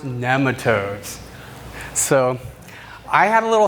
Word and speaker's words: nematode: 3 in the series Cover Crops to Kill Nematodes. It's pronounced nematode. I've heard it pronounced both ways, and I've always pronounced it this way. I know, but soil biologist Dr. Elaine Ingham pronounces it nematode.